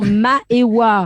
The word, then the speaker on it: Maëwa: Oui, c'est Arrête, prononce bien ce prénom. Maëwa. Pour les personnes... C'est comme Maëva, mais avec le W. Maëwa.